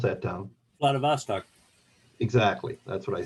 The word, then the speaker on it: Vladivostok: How do you pronounce that town? Vladivostok.